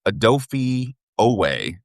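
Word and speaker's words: Odafe Oweh: Ado- Adofie Oweh.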